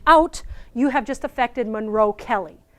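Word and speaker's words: Monro-Kellie: You have just affected Monroe-Kelly. Incidentally pronounced Monroe-Keeley, but nobody ever said, I'd never say that.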